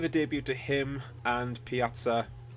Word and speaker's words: Pjaca: So we signed Marko Pjaca. I finally learned how to pronounce his name, the 21-year-old Croatian from Juventus, for $5 million plus Jermaine Defoe.